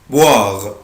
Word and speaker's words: boire: verbe boire، boire، boire يعني يشرب. عود نفسك الاو اي او الاو اي بالانجلش بنطقها وا، boire يعني يشرب.